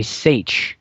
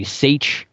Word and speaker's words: seiche: and Loch Ness there are events called a seiche and a seiche if you want to look it up you